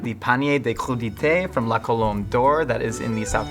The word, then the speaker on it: La Colombe d'Or: Tell me about La Colombe d'Or and why it's special to you.